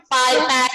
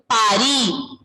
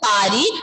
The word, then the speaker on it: Paris: Paris is in English. In Eiffel French, Tower. pronunciation is Paris. Paris. D'accord? Paris. S. The ending letter S will be silent. Paris.